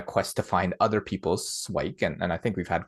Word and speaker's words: SIWIKE: How do I you like pronounce to pronounce it swike just to keep it like a Swike? Oh, one see, syllable, that sort of love thing. Like it. swikey sounds like Nike.